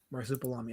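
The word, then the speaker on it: Marsupilami: Marcup Balami.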